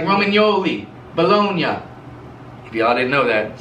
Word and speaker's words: Bologna: italy called bologna and they don't pronounce it baloney in italy they pronounce it bologna and it's spelled b-o-l-o-g-n-a